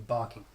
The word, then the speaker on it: barking: this is important and you've got two syllables in the word one is always a much stronger than the others if you have two syllables in a word yeah it's bar King wait a Japanese accent you would probably say well you weren't you'd say both the same amount of stress so Japanese accent Oh